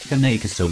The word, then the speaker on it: Cane Corso: Pronounced Cane Corso from Italian Cane and Corso, also known as